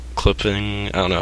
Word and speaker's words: CLPPNG: Like clipping, I don't know how to say that. I think it's pronounced, yeah. Clipping without any CLPPNG.